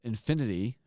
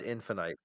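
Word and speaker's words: Halo Infinite: I have been playing Halo Infinity recently, and I do think It's pronounced Infinite.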